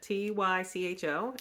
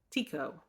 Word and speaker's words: Tycho: how to pronounce it t-y-c-h-o and the internet can't even agree so it says you could pronounce it Tycho or Tico who knows but it's